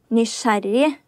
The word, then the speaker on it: Nysgjerrig: So this would be nice-jering. If I saw this, I would say nice-jering. So what's the actual pronunciation? Nysgjerrig.